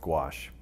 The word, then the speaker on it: gouache: with a paint called gouache. When I go around to schools and I talk to kids, I say, it rhymes with squash. That's the way they can remember it. So, but gouache is a water-based paint.